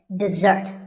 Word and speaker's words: dessert: with a z sound we stress the second syllable dessert this word refers to something sweet that's eaten at the end of a meal and it should not be confused with desert here the stress is on the first syllable which is de desert now i